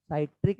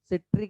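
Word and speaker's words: citric: Pronunciation क्या, कुछ लोग इसे सिट्रिक एसिड पढ़ते हैं, कुछ लोग साइट्रिक एसिड पढ़ते हैं। ओके, वो एक ही चीज है।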